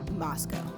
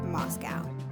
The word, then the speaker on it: Moscow: to show you moscow idaho and yes it's pronounced moscow not moscow moscow is located in northern idaho along the